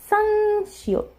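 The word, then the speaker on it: 쌍시옷: this one but basically the way that I do it is I really just tried to tense my my mouth and my throat as much as possible when I pronounce this so some some like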